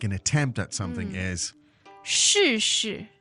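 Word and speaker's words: 试试: Now, to try, as in to make an attempt at something, is 试试试试, and that's 试试. fourth tone, right?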